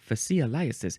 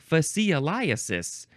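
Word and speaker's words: fascioliasis: correct let's let's take a closer look fasis fasis this is spelled f a s c i o l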